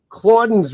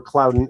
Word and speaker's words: Clauden: to them, are the Clauden's Ring saga, or Clouden, if you want to pronounce it more properly. But I'm from the Midwest, so it's Clauden.